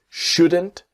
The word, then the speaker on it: shouldn't: Things just shouldn't be so complicated. and things just shouldn't be. So the T in just is silent and the T in shouldn't silent.